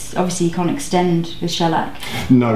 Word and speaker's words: shellac: to apply the shellac oh it's shellac yeah I think I've been saying the wrong thing I've been pronouncing it incorrectly but I won't do